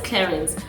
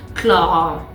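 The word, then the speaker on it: Clarins: pronunciation of it we all know it as Clarance but apparently the correct French pronunciation is CLA and I was like I'm sorry say what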